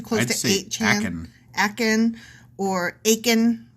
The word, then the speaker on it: Achan: Achan or Achan rhymes with bacon. Yeah. Yeah. Bacon. It'd be like the 7, whatever, the bacon thing. Only we'll say Achan.